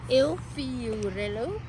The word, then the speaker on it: Il Fiorello: Il Il Fiorello.